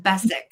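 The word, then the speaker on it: Beswick: Phil said it's pronounced Bess W is silent thank you Phil that's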